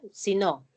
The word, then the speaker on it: sino: Entonces, podemos hacer por la entonación, o sea, la conjunción adversativa, esta conjunción, el sino, es átona, ¿ya?